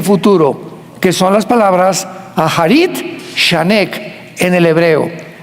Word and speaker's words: Acharit: que son las palabras Aharit Shanek en el hebreo. Se escribe Acharit, A-C-H, tal como suena.